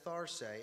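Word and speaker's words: θαρσέω: over and over again the greek language pronounces it as thar say it means cheer up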